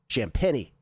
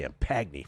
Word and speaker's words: Champagnie: Champagnie. I was going to say Champagny for a second. That's what we used to call champagne back in the day. Uh Vassell misses a three. Champagnie with a follow-up, 101-96.